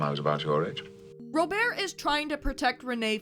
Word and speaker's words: Robert: yeah they go back and forth on the French and English pronunciations Rober isn't Robert except for one slip